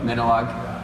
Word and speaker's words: Minilogue: Yeah, Minilogue. And that's one of the things with the synth world is all the names are weird. You just kind of say whatever. So it's Minilogue, Moog, Moog.